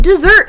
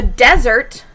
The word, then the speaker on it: desert: It's spelled the same. This is pronounced a little bit differently. It has a different meaning. The desert is very dry.